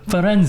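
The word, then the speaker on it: Firenze: stay up in Florence I say Florence because I'm thinking of foren which is how you say Florence in Italian yeah so we also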